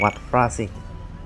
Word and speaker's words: Wat Phra Singh: but I looked it up in Thai, it's pronounced Wat Phra Singh. Wat Phra Singh is the second oldest temple in Chiang Mai, while the oldest one we'll explore later.